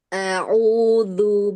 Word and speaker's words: أعوذ: Ta'awuzu, huruf zalnya. أعوذ بالله من الشيطان الرجيم. Ya, alhamdulillah. Sudah bagus ya. Tadi sedikit kedengaran seperti dal.